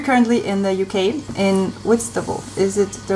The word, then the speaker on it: Whitstable: We're currently in the UK, in Whitstable. Is it the right pronunciation?